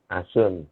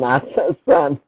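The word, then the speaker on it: A Sun: Asun. Bukan Asun, Asan.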